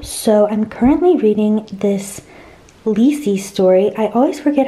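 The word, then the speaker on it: Lisey: is my Kindle so I'm currently reading this leasy story I always forget how to pronounce it cuz it seems unnatural to say it that way but that's how it's pronounced Ley Story by Stephen King um to be honest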